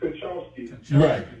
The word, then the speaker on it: Konchowski: Go ahead, say it. It's Konchowski.